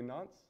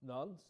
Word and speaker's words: Nance: Can you say Nance? Nas. Nonce. Nars. N-O-N-S. Well, Nas. So nonce. Nuns.